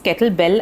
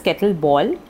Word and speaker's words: kettlebell: Because 9 out of 10 would pronounce kettlebell as kettleball.